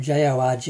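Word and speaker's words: Jorge: That um belongs to a local musician called um it's spelled J O R G E.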